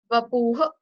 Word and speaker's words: vapuh: Vapuh. Vapuh. So here like H would be, it won't be like exactly silent, but you have to put like very, very less pressure on H.